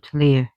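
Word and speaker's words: Llŷr: She is the daughter of Tlir. Yeah, I know it says Llyr, but it's Tlir. It's the Tlir sound.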